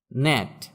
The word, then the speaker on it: gnat: ন্যাট, GNAT, ন্যাট মানে ডাঁশ।